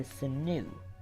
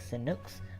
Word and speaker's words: Sinux: That creature you just saw right there is pronounced the Sinu. It's spelled like Sinux, but it's actually Sinu.